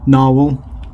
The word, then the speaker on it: Nahvalur: and told that the new spelling you've actually pronounce it the same way as it was spelled before narwhal here's the new logo anyway which is a